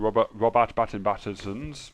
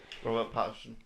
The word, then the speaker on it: Pattinson: First, we got Robert Pattinson's Batman. Robert Pattinson. Robert Patterson.